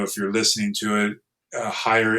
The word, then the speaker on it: Heyer: Um, again, if you're not watching this video, if you're listening to it, Higher is my last name and it's spelled H E R.